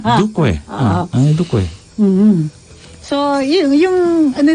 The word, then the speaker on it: Duque: I like how you pronounce that. Ulitin mo ngayon. Duque? No. Duque? You added a Y. Duque.